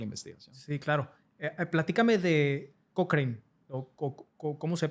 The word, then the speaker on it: Cochrane: Platícame de Cochrane. ¿Cómo se pronuncia? Cochrane.